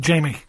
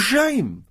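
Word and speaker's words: Jaime: So it's common knowledge that's pronounced Jamie, is it? Okay, well, I stand... we'll ask him. We'll ask him when he comes in. I'll write it down for him. Big. J-A-I-M-E. I always thought it was Jame. I thought, well, that's a stupid... I've never heard that name.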